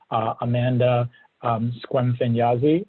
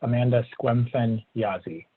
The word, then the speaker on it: Squemfen-Yazi: that we do have Amanda Squemfen-Yazi. And Amanda, please tell me if I pronounce that right. It's Amanda Squemfen-Yazi. Yes, that's correct.